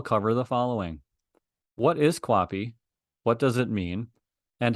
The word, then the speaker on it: QAPI: within organizations for over 15 years what is copy copy which is pronounced as it's listed there on the screen